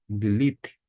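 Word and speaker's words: לילית: Lilite. Lilite é a pronúncia do termo que nós encontramos aqui.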